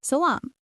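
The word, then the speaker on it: سلام: In the Semitic sisters, Syriac and Hebrew, it came to be pronounced with a sh sound, while in Arabic it remained a sa.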